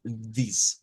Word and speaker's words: this: Debemos decirlo como this. Miren, dis, this.